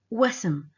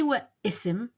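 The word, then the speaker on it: واسم: Wasm. I don't say wa ism. I say wasm.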